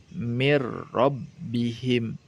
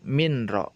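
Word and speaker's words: من ربهم: dileburkan secara sempurna sehingga dibacanya mirrobbihim Bukan minro Ya bukan minera tetapi dileburkan secara sempurna mirrobbihim begitu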